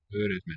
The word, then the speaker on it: öğretmen: Öğretmen, or it could be a lengthening of the vowel.